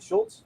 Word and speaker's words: Schultz: Did I pronounce it right? Schultz? Yep, you got it.